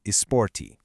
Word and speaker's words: esporte: The e at the beginning and the e at the end both undergo shifts in everyday casual speech, transforming the whole thing into esporte.